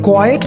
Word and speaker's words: quiet: इसे quiet pronounce करते हैं, quiet नहीं कहते.